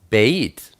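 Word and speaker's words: בֵּית: Beit is pronounced like a B, such as baby. It's sometimes pronounced like a V, as in victory.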